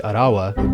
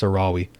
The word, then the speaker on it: Arawi: relatively close with Kaichi Arawa. Did I pronounce I pronounced that wrong last time, didn't I? Oh god, have I been pronouncing it wrong the whole time? Oh god, it's Arawi.